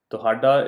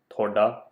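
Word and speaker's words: ਤੁਹਾਡਾ: Tuhada is the technically correct way to say this word, but often in regular speech, we end up pronouncing it as thoda or thodi.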